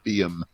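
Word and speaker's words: wyrm: The ancient Anglo-Saxon English word is pronounced veum. It's spelt the same way, but the pronunciation evolved down the centuries. But it is veum.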